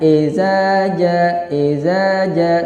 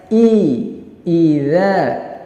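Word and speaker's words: إذا: Jangan kita baca jangan ezaja, salah. Membacanya yang benar yaitu dengan I. Suaranya idza, jangan eza, salah.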